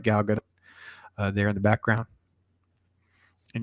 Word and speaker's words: Gal Gadot: looks a lot like Gal Gadot there in the background. And yes, some of you at home, yes, that is actually how you say her name.